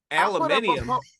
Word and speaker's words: aluminium: Aluminium. Elemental P? What the? That's how the Brits say it. They say aluminium.